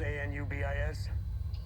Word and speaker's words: Anubis: Spelled a n u b i s. Uhhuh. It's pronounced Anubis.